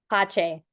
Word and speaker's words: Pache: So, is your name pronounced, your last name? Pache. Oh, Pache, so it's French.